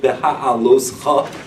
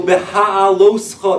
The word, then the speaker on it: Beha'aloscha: name to pronounce, but it's called Beha'aloscha. That ch sound is not the easiest.